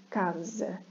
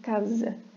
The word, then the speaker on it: casa: Nada de dizer à espanhola caça, é casa. Um S entre 2 vogais vai ter o som de Z, casa.